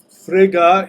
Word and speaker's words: Frigga: on topic so Frigga Frigga is the norse pronunciation of the goddess the queen of the universe right so that's usually